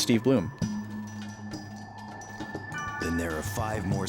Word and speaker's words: Blum: Uh, wise man says, "Yeah, Bloom is spelled B L U M, by the way, spelled like blum, pronounced like bloom."